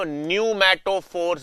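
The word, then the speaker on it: pneumatophores: श्वसन मूल इनको हम कहते हैं रेस्पिरेटरी रूट्स या इनको हम न्यूमेटोफोर्स भी कहते हैं। न्यूमैटोफोर्स पी साइलेंट होता है बच्चों।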